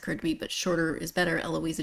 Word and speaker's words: Eloisa: but shorter is better eloisa James it's not a long name but um and you know there's only what five letters in eloisa e l o i s a six uh but it's four syllables there's almost as many syllables as there are letters this is the way